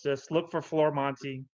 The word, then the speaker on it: Florimonte: Well, it's spelled Florimonte, FLORIMONTE.